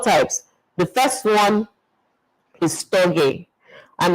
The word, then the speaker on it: storge: The first one is storge, and it's spelled S-T-O-R-G-E, and it means natural affection.